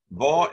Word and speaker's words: vad: Vad en kan klanta till det. Vad here is the same as G. You don't really pronounce the D in spoken language.